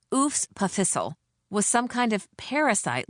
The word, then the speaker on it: EWS PFHSL: As if the EWS PFHSL, pronounced oos pissle was some kind of parasite living in the belly of this great center of learning.